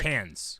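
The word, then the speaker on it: Cannes: C nnes KES okay Eric how do you say that uh KES thank you Eric can's can's Film Festival the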